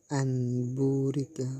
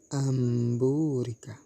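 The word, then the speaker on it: أَنْ بُورِكَ: Contoh nun sukun bertemu dengan ba, amburika. Tidak boleh dibaca anburika, tetapi dibaca amburika.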